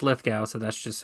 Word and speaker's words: Lithgow: words and stuff I I always said John Lithgow yeah it's go Lithgow but people I've C I've